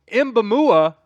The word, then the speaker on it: Mboumoua: head coach and then Steve mamua I I'm pretty sure I said that right um I asked Sam Brown our resident Frenchman here at chat sports how to say it and that's how he